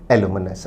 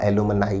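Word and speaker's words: alumni: बैक्टीरियरहाडॉप्सिन को कहते हैं एलुमिनस आप किसी कॉलेज में पढ़े हैं तो वो आप उस कॉलेज के एलुमिनस हैं प्लूरल होगा एलुमनी या एलुमनाई दोनों तरह से उच्चारित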